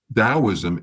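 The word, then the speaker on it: Taoism: Dowoism spelled with a T, but it's pronounced like a D. Daoism is another pagan religion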